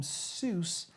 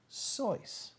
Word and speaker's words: Seuss: Seuss an anglicized pronunciation this is our trivia an anglicized pronunciation inconsistent with his German surname he himself noted that it rhymed with voice Alexander Lang one of